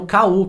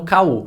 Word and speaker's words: KU: Um último bônus aqui nessa categoria é o KU, que é o Kindle Unlimited, que normalmente o povo usa, né, o Ku, fala que é o Ku, mas que na verdade se pronuncia KU, que é o serviço